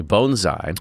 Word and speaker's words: bonsai: So now I know how to say it correctly. Bonesai bonesai that's how you do it.